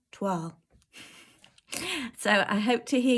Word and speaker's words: toile: I hope that helps, and I don't hear any of you saying twirl or twel or toil, all the different variations that I hear regularly. I'm going to tell you, un, deux, trois, toile.